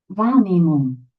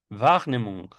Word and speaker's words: Wahrnehmung: Wahrnehmung. Wahrnehmung. Wach. Recuerden que la W en alemán se pronuncia va o vi.